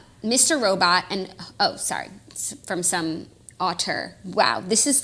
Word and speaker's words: auteur: Robot and, from some auteur. Wow, this is like the most elevated article I've ever fucking Very read. dense. Okay, what I don't, the word is auteur, A-U-T-E-U-R.